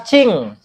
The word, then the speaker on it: jing: Jing itu dibaca cing. Jadi nantinya ee J itu dibaca C ya, Bu ya.